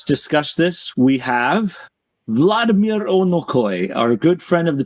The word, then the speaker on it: Onokoy: And to have us discuss this, we have Vladimir Onokoy, our good friend of the channel and AK expert.